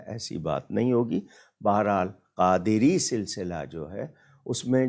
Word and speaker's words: قادری: کا طریقہ بتا دیجیے۔ قادری سلسلہ، ہمارے ہاں لوگ انگلش میں لکھتے ہیں QADRI، قدری بنتا ہے، قادری، دال کے نیچے بھی زیر ہے، تو اگر اسپیلنگ کرنی ہے تو QAADIRI، قادری۔ اسی طرح صابری، لوگ